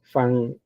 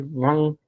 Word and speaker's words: Van: Eh, esos son dos pintores, son hermanos, les llaman los hermanos Fan A. Yo sé que ustedes dicen B, dicen B, pero la B se pronuncia como una FB. F es fan, algo así, Van.